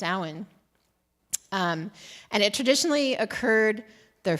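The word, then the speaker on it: Samhain: ha an in various different ways but it's pronounced s um and it traditionally occurred the first full moon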